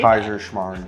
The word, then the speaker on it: Kaiserschmarrn: Kaiserschmarrn from Austria. I'm ready. Don't test me on my Mardi Gras food. Proud that you knew how to say Kaiserschmarrn.